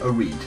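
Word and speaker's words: Oread: gone with oh reed i think that's pronounced o-r-e-a-d a reed now a reed uh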